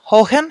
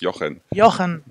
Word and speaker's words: Johan: Copenhagen I'm here with hohan hello hohan hello I pronounce it really bad right it's Yan Johan oh okay sorry my